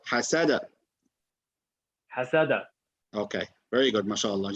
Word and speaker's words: حسد: Okay, you say حسد. حسد. حسد. It sounds very similar, but try that this way. حسد.